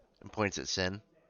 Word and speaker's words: Syn: And points at Syn. It's Syn. I'm sorry? It's Syn is my name. Like what you're not supposed to do in the church? Well, no, it's spelled with a Y, not an I.